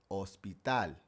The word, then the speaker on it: hospital: honesto Even English words where we pronounce the H, it would be silent in Spanish. Like the word for hotel hotel or the word for hospital hospital If you ever heard